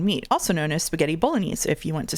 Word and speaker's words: Bolognese: It's Bolognese.